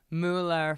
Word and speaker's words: Mueller: It's spelled with an M-U-E. Yeah, I don't know. It's a Midwest thing. If you go around Wisconsin specifically, but maybe Minnesota too, there's a whole bunch of us, what should be German, like Mueller, full-on umlauts, make it German, that go by Miller. So it is officially Miller.